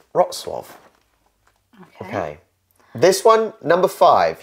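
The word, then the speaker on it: Wrocław: letters for example the the L we think is an L for watch is not oh no but it's not now because it's got a thing through but I wouldn't know what else to pronounce it no so no you are wrong it is rot Suave okay this one number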